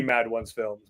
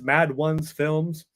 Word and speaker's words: Mad Ones Films: So that one is the Mad Ones Films, but otherwise it's Mad Ones Films, not Madone's Films, like I've heard a couple people pronounce it.